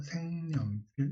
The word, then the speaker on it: 색연필: 그래서 생연필 이렇게 되잖아요. 요거 니은 청가. 그 다음에 생연필 기억이 뭘로 발음됐다?